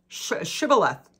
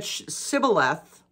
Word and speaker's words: shibboleth: all right say shaboth shibboleth if he said sybileth because he could not pronounce the word correctly they seized him and